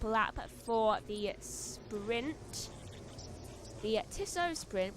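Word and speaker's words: Tissot: Sprint the tiso Sprint we used to call it the tisot Sprint but then we found out that's not how you say it even though it sounded so right but apparently it was so wrong 14 laps to go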